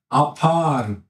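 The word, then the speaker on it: עפר: 아파 여기 가운데 이렇게 긴 거는 길게 아파르, 아따. 전라도 말 아따 있죠. 있잖아, 아따. 어? 너는 뭐뭐이기 때문이다. 아따, 아따. 아따, 여기도 발음이 똑같죠. 아따.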